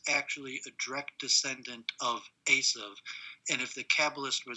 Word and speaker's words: Esau: they don't say uh they don't pronounce it esau they pronounce the the v sound uh and they say asav it's lucky it's actually a